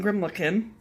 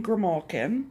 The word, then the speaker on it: Grimalkin: to tell you one is that I was pronouncing her name totally wrong before I thought for ever that it was quilting grimlock in and it's not it's coaching Grimalkin right and that Grimalkin is an old term